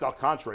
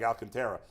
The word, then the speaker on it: Alcantara: oh did you okay it's pronounced El Contour even though it looks like Alcantara uh Goldsmith ahead of